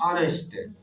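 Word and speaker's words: honest: ईमानदार का होता है नेस्ट नेस्ट नहीं पढ नेस्ट इसम एच साइलेंट होता है एच ओ एन ई एस टी यू आर नॉट ऑनेस्ट मैं एक अभियंता नहीं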